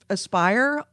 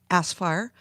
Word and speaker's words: Aspire: Academy and Jedi Outcast wait how you say it spelled ASP why are aspire I was looking at thinking asper no it's a spire and they have been